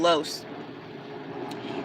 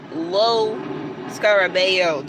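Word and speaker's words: Lo Scarabeo: the first time okay instead of it being loose it's low scarabello Tarot so they on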